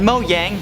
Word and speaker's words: Mojang: were meant as a joke the ones that mo yang that's how you say it doesn't want you